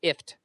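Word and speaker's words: IFTTT: No, it's pronounced IFT. IFT.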